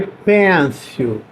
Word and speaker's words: pencil: P-E-N-C-I-L, mas a gente escreve péncil, a gente lê pencil. Parece que tem um A aí, pencil, tá? Parece que tem um A que a gente vai pronunciar aí, é meio carioca.